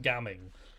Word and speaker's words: Gaming: and impact called gaming it's pronounced gamming but look man you show me the word gaming I'm going to read that as gaming you can't hide that